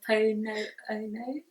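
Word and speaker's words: Hoʻoponopono: Okay, I'm not going to be able to pronounce this. Is it Ho'oponopono? Oh yeah, the Ho'oponopono.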